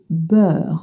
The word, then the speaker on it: beurre: Le beurre with the sound like in butter, and that's what we're learning. Le beurre. Le beurre. Le beurre. Une tartine avec du beurre.